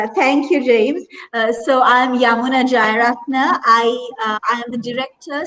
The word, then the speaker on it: Yamuna: So Yamuna, that's how you pronounce it, right? Yamuna? Yamuna, yes. Named after a river in India. Yeah, so you can start with you. My apologies. Yeah, that's fine. Thank you, James. So I'm Yamuna Jayaratne.